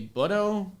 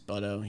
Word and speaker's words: Butto: his last name is butto you never know so kind of i mean if he's if he's jose you want to pronounce it with the latin approach it's bhutto all right i like